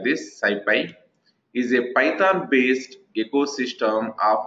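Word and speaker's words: SciPy: don't try to observe here the Skippy Skippy pronounced as like this Syfy is a python-based ecosystem of open source software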